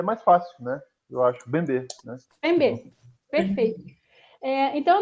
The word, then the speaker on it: Mbembe: Bembe, eu assumo a pronúncia francesa, que é Bembe. Bembe. Acho, por uma questão assim, porque ele, por ser camaronês, ele também fala francês, né?